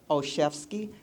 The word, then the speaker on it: Olszewski: The letter O, C-H-E-F like a chef, and ski like you're going skiing, okay?